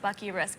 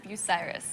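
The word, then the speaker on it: Bucyrus: People usually pronounce it Bucky Risk, but it's pronounced Biryus.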